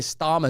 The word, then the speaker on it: Starmer: That's not to get in my nation with Blair, whose very name is an anagram of liar, or Keir Starmer, whose name rhymes with Harmer.